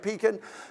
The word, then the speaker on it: Pekin: You know, if I go out, is it pronounced Pekin? It is? Okay, I want to make sure you're getting it right, Pekin.